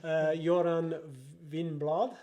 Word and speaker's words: Göran Winblad: Göran Winblad, is how you pronounce it.